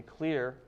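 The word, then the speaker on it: Xlear: Lon Jones, who founded a company, Clear, that's spelled with an X, based on this simple sugar.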